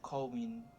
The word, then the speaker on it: Cauwine: Coine.